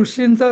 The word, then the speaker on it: ऋषी: म ते जातात ना तचा जो आवाज आहे ना तो ऋषींचा र आहे ऋषी तो ऋषी आर य एसय पण नाही आणि आर आय एसएच आय पण नाही.